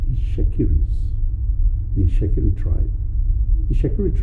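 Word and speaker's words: Itsekiri: Ishekiri, not Shekiri. Because you know a lot of people pronounce this very wrongly, and I'm probably one of those as well, because I call it Shekiri. But Yeah. Ishekiri. Ishekiri. Okay. because that E is very, very important.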